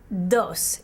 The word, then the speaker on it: dos: it with me uno the number two is pronounced dos in spanish dos say it one